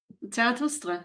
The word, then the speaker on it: Zarathustra: I said it in a Latin fashion, and then Anima destroyed everybody with the correct pronunciation. Zarathustra, yeah.